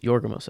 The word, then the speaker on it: Yorgos: I remember just Yorgos, by the way. Yes, Yorgos. I think I did add another syllable in there.